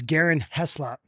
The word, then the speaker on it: Garin Heslop: His name is Garin Heslop. Did I say it right? You got it, baby.